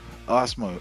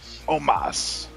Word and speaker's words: Omos: We got Braun Strowman versus Osmo. Oh, how do you say his name? Omos.